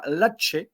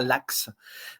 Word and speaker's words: Laxe: son réalisateur espagnol, Oliver Lache. Oui, on prononce bien Lache, et pas Lax.